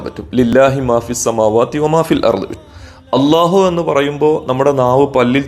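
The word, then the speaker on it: الله: ലാം ഇനി മറ്റൊരു അത്ഭുതം അള്ളാഹു എന്ന വാചകം ഒരിക്കലും അത് പറയുന്നതുപോലെ എഴുതാൻ കഴിയില്ല അല്ലാഹു എന്ന് നമ്മൾ മലയാളത്തിൽ എഴുതും അല്ലാഹ് എന്ന് ഇംഗ്ലീഷിൽ എഴുതും അലിഫും രണ്ട് ലാമും പിന്നെ ഹാവും അറബിയിൽ എഴുതും എന്നിട്ട് അതിനെ അള്ളാഹു എന്ന് നമ്മൾ വായിക്കും ആ വാക്കിന്റെ മറ്റൊരു പ്രത്യേകത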